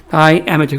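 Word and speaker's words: diameter: 미터 다이 다이어 미터인데 발음은 다이죠. 다이아미터 그게 지름 직경이 뜻입니다.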